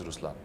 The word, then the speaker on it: Ruslaan: So even in Ruslaan, when you say Ruslaan also means the lion, it's the attitude of a lion, but the right pronunciation is Ruslaan.